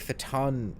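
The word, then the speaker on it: fhtagn: word I feel like fatan rules better off the tongue but for tag them incorporates that g hmm I'm gonna go with Cthulhu fatan for now and go with the silent G although like most of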